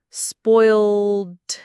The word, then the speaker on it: spoiled: It's pronounced spoiled. Notice the oi sound like in boy and the t at the end.